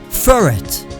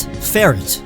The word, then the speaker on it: Furret: Furret, not ferret. We don't call Pidgey pigeon, so don't call Furret ferret.